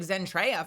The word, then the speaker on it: Zentreya: Like my curse is that I have the silent E. You know, you can read Zentreya perfectly first try most of the time, but the E on the end confuses people with my name.